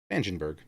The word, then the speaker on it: Spangenberg: It does have the pronunciation of his name. Spangenberg.